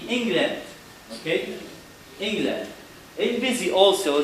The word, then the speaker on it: England: Here the E letter also pronounced as short E, England.